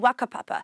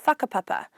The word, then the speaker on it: whakapapa: Like, you might notice me saying words like wānau and wakapapa, when it's normally said as whānau and whakapapa. I'm not saying it wrong, that's just my local dialect from Whanganui.